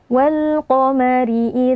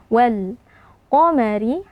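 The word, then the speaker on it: وَالْقَمَرِ: ayat ke-18 walqomari idattasaq Wal alif lam alqamariyah karena alif lam bertemu dengan huruf qof yang merupakan huruf qamariah alif lamnya dibaca dengan sukun Wal qomari alif lam Eh nah berhati-hati pada alif lam ini jangan sampai kita pantulkan ya karena sebagian ee dari kita terkadang membaca alif lam qamariah ini diberi Qalqalah atau dipantulkan walqomari Nah ini salah jadi kita jaga huruf lamnya supaya tidak terpantul kemudian qof ya merupakan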